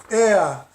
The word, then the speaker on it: er: Aqui tem um ER, que é ele, e se pronuncia EA.